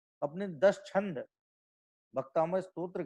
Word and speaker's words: भक्तामर: लेकिन आज भी लोग इसको प्रोनाउंसिएशन में भक्तांबर ही बोल रहे हैं, भक्तांबर ही लिख रहे हैं। तो इस बात पे हमें ध्यान देना है कि भाई साहब ये भक्तामर है, भक्तांबर नहीं है।